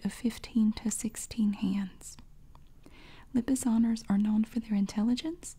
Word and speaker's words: Lipizzaner: right oh good thinking mere pronounce Brendan seasoned pronunciation Lipizzaner okay Lipizzaner lipice owners are powerful horses with